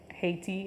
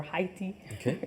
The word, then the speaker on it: Haiti: She's representing Haiti or Haiti, right, is the correct pronunciation. Haiti, yeah.